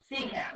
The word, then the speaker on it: secant: A secant, that's how you say it, is a secant line.